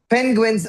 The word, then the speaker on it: penguin: It's pen, not pin, Pen- right?